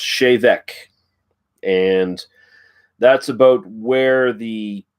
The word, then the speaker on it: Te Bheag: this joke reviewing this whiskey but it reads teabag does it not yes it does if you look just if you're just looking at it but it is actually pronounced shave Eck and that's about where the proper pronunciation and